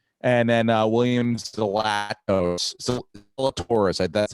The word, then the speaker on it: Zalatoris: And then Williams Zalatoris.